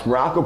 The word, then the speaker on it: Maroko: I am Coach Maroko, pronounced just like the country, spelled absolutely nothing like it.